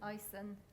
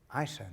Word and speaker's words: Ison: Ison. Ison? Yeah, except I now follow it up, it rhymes with Tyson.